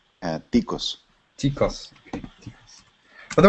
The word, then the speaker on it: Ticos: Ticos.